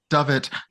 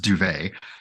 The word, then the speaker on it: Dovett: Dovett. Sorry, it's pronounced Duvet.